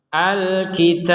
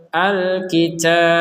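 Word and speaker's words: الْكِتَابَ: Tajwid ya dikit-dikitlah gitu Kenapa kita membacanya dengan pantulan padahal ini harakatnya fathah jawabannya adalah karena kita berhen berhenti di sini Alkitab Alkitab karena kita berh berhenti lalu harakat fathahnya ini ya tidak terbaca fathah lagi tapi kita membacanya dengan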